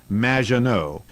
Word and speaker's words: Magginot: It's M, which rhymes with badge. Uh, as in duh, and no as in more than you. Majo.